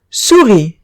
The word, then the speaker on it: souris: Souris. Souris significa ratón y como vemos, la S no se pronuncia por ser consonante final.